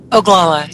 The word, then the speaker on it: Oglala: the documentary Incident at, and I want to pronounce this right, Oglala, right? Oglala, yeah.